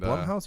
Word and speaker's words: Blumhouse: And Is it Blumhouse or Bloomhouse? I think it's Blumhouse. It's spelled like Blumhouse. B-L-U-M, But right? that's, I mean, some people pronounce that Bloom Bloom.